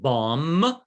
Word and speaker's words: bomb: lia bom yes which which one's not pronounced the m no you pronounce it bomb i'm gonna put a